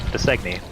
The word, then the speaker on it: Dausegne: How do you pronounce that? That's what? The name. Her name? Dausegne.